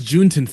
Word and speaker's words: Juneteenth: When's Juneteenth happening? Juneteenth? Is it? Oh, it's pronounced. Okay. Juneteenth. Oh, I was about to.